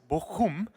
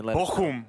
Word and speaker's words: Bochum: First, and he actually taught me how to pronounce it right. It's Bochum. I think I'm saying that right. There's Germans laughing right now in the crowd. Yeah, in the chat, guys, in the chat. All right, Bochum.